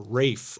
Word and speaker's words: Ralph: for the first time, Ralph Richardson or Rafe maybe is the more correct English pronunciation, who is a well-known total eccentric said to Charles Nest, "Ah, I remember you.